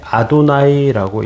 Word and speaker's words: 아도나이: 어 구약은 히브리어로 기록되어 있는데 히브리어 성경에서 이스라엘 유대인들은음 여호와라고 하는 단어를 그 읽을 때 아도나이라고 읽었습니다.